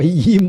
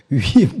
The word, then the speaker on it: 위임: 위자를 이자로 하면 큰일 납니다. 그렇죠? 저 이임 목사가 아니고 위임 목사입니다. 그렇죠? 이임이라는 건 떠난다는 의미고 위임이라는 것은 맡는다는 의미입니다.